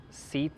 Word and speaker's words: CEAT: The tires that came on this motorcycle are an off-brand CEAT. Seat, I believe it's pronounced.